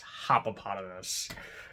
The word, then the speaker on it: Hoppopotamus: life of me but it's just like hippopotamus it's hypopotamus there you go are you